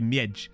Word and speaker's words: miedź: Oh yeah, and also the DZ is pronounced J, so it'd be a miedź, wouldn't it?